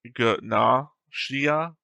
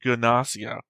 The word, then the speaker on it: Gnosia: The Japanese is Gnosia, Gnosia, and the official English dub keeps the hard G sound like Gnosia.